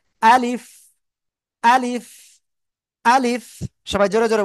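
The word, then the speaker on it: ألف: এইযে শেষে একটু বাতাস বের হতে হবে কিন্তু। না হলে হবে না। আলিফ আলিফ আলিফ।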